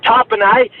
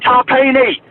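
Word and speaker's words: Tapine: And another thing, fucking they try to pronounce Joseph Tarpanay as fucking Tarpini. Rhymes with tahini.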